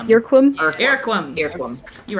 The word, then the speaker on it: Irquim: IRQUIM. Yerquim?